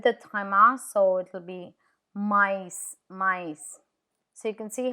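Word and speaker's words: maïs: no l can you see how e is pronounced separate to O Noel which is Christmas Noel I with is mice mice mice which means corn sweet corn without Thea m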